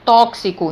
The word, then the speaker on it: tóxico: que e um se na palavra tóxico é gravado com x mas quando eu pronunciou falo tóxico então x ele representa dois fonemas dois sons o som